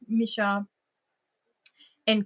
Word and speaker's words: Michaela: what's Kim's channel name mishaa is my real name mishaa which is Michaela it's spelled Michael with an a at the end and um Mi is